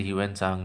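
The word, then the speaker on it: Hiuen Tsang: Silent होना चाहिए, बट जैसे ह्यूएन सांग में जो आता है ना उसमें टी साइलेंट होता है, TSANG बोलते हैं उसको, वैसे ही यहाँ पर भी टी साइलेंट होगा, देख लीजिएगा।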